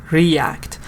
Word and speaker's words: react: React. So how did you react? Yes, good, Ali. Just you should change the act. How did you react? Stress on the second part. It's a verb.